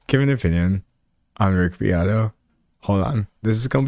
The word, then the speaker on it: Beato: Beato. Okay, cool. Can I give an opinion on Rick Beato? Can I give an opinion on Rick Beato?